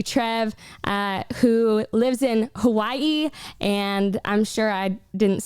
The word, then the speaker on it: Hawaii: of people say like hawaii a lot of people also pronounce the w like a v yeah but a lot